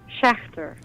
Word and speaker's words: Schächter: Louis Steve, and we've got Daniela Schächter. Am I pronouncing that good enough? That's perfect. Thank you. Let me hear how you say it, though. Schächter. Ooh, yeah, that's more of a hard K there.